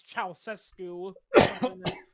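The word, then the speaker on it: Ceaușescu: Communist right yeah yeah his name's crazy to to pronounce because it's chesu it's Romanian you know he's the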